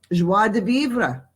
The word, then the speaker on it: joie de vivre: our life our contentment our general state of joie de vivre i said it right this time it's all